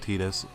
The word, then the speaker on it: Tidus: Yes, I pronounce it Tidus. It's canon. The city approved it.